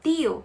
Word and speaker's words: tío: Mas se escreve com T, de tio, né? Só que em espanhol, nós vamos falar sempre tate, ti, toto, ok?